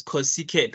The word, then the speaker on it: cosecant: can I start by asking yes please we pronounce the one that starts with c as co-sequent right second yes the one that starts with